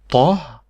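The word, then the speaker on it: طاء: Then we have your special letter here, which is Ta. Ta, and this is how you write it. Ta. And Ta, it is not a T, it's a heavy T.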